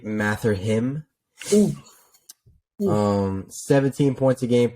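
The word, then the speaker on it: Mathurin: two I got Benedict mathrin um Arizona man Benedict oh sorry I spelled it I said his name wrong it's Benedict math or him um 17 points a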